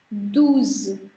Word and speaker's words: douze: Next is douze. Douze. Why? Because it's OU sounded as oo, therefore douze.